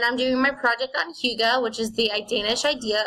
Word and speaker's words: hygge: It's pronounced hygge. It's a Scandinavian word and a defining characteristic of Danish culture.